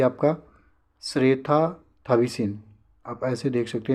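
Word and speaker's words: เศรษฐา ทวีสิน: ये आपका श्रेथा थविसिन, आप ऐसे देख सकते हैं प्रोनाउंसिएशन इसका, श्रेथा थविसिन।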